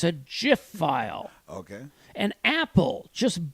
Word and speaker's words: GIF: a thing of the peanut butter it's a Jif file okay an apple just bought the company